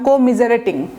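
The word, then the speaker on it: commiserate: হ্যাঁ, কো বললে হবে না, কম মিজারেটিং। তো কম তো শুনতে কেমন শোনা যায়, মানে উচ্চারণটা খুব দ্রুত করবেন, কম মিজারেট, কম মিজারেট। কো বললে আবার হবে না, আমি ভুল বলছি, কো হবে না, কমিজারেট একসাথে বলবেন, কমিজারেট।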